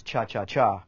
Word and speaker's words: cha-cha-cha: The cha-cha groove, actually the correct pronunciation is cha-cha-cha with 3.